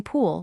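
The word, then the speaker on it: 풀: The third is p plus u plus a final l. U is flat so it goes under the p and the l sits on the bottom giving pool which happens to mean grass.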